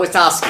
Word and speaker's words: Witowski: Please welcome to the show, Scott Witowski. Thank you. I hope I pronounced your name correctly.